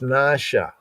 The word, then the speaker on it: נשא: So I guess by just looking at what is written in the English and ignoring the diacritical marks like the N over the A is a long A sound, right? The stroke over the A over the S is like an inverted arrowhead, and that means that that S is syllabated.